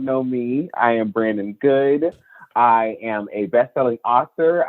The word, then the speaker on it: Goode: Brandon Goode. The E is silent, but that tongue is sharp.